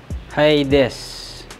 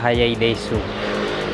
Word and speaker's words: Hayaidesu: Hiades. Yan daw ang pronunciation yan. Hiades. Pero hindi siya Hiadesu. Hiades.